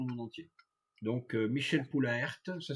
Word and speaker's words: Poulaert: Donc Michel Poulaert, ça s'écrit P-O-U-L-A-E-R-T, L-A-E-R-T, Poulaert, Michel Poulaert, Yves Jacob, avec lequel j'ai travaillé en prospection téléphonique, Yves Jacob, Allo Prospection, c'est sa boîte.